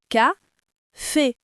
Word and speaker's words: café: Et le mot café, il a 2 syllabes, mais on accentue la deuxième. Ka-fait, pas café. Et pour finir, le matin?